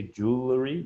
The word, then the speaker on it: jewelry: for example okay and the pronunciation it depends on where who you talk to because some people say jewelry jew love read and